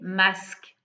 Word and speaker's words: masques: On voit bien les masques, le masque, le mot masque, c'est exactement la même chose à l'oreille. D'accord? On ne dit pas les masques. Voilà.